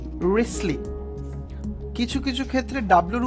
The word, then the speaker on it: Wriothesley: আমরা উচ্চারণ করব WRI, মানে ও এর উচ্চারণ নেই, টি এর উচ্চারণ নেই, এইচ এর উচ্চারণ নেই, ই এর উচ্চারণ নেই। তো এটার উচ্চারণটা হচ্ছে রিসলি, WRISLEY, রিসলি।